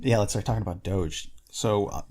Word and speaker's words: Doge: guru at the time he pronounced it dogi and i thought that that cannot be right it has to be doge dogi sounds [ __